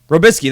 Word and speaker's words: Robiskie: Tennessee Titans offensive coordinator Terry Robiskie, I think is how you say it. Robiskie, that is right.